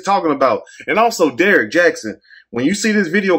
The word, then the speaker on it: Jaxn: life of Derek Jackson yes Jackson let me say it right because I used to say Jackson but it's sad that